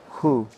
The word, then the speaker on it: Hu: I gotta think of H-U like W-H-O, Hu. It's almost like Vietnamese. Like I know people whose last name was in Vietnamese Hu, and that's how I pronounced it, Hu.